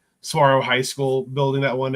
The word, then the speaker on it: Saguaro: that live in Arizona it is not siguro it is tomorrow Saguaro High School building that